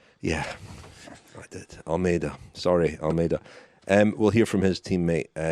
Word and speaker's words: Almeida: And I said his name wrong consistently last night. Get out. Did you? Yeah, I did. Almeida. Sorry, Almeida.